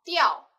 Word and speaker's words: 吊: 接下来这个字读作吊，吊车的吊。